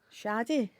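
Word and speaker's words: Sade: I love this song s Shady Shady that's how you pronounce it okay what' I say s do you know what that was like a shady that was a p GL a really um glasgal thing let's do Smooth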